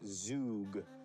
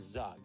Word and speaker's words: Zug: I kind of want to send them up towards Zug, so I'm gonna try that. Oh, we got an answer. All right. Rug? Rug. So that rhymes with Zug, which we know.